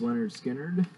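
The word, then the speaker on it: Lynyrd Skynyrd: And first one I'm showing is Leonard Skinner, pronounced Leonard Skinner.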